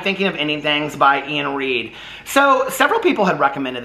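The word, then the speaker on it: Iain Reid: ending things by uh i think it's pronounced ian reed um it looks like but it's i a i n read okay this book i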